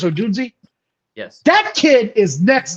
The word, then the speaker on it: Odunze: But Odunze, is that how you say his name? Odunze? Yeah. I think it's Odunze.